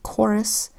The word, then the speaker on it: chorus: and CK you remember CH makes three sounds check Shh first sound as in chin second sound as in chorus and third sound Shh as in chef so when you see